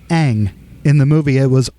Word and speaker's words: Aang: Like in the cartoon, it's Aang. In the movie, it was Ong.